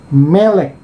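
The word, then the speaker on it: מלך: Oh, ini mem yaitu M, kemudian di bawah mem ada segol yaitu E, kemudian ke kiri lagi yaitu ada lamet yaitu L, kemudian bawahnya ada vokal segol, dan yang terakhir adalah kaf akhir. Jadi ini bacanya adalah melek, yang berarti raja, atau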